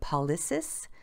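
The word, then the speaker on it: pollicis: them so you see the p-o-l-l-i-c-i-s those are attached with that thumb and i believe i'm pronouncing it wrong but paulis but the thumb again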